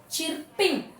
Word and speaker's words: chirping: Chirping actually, but R is silent. You just say chirping.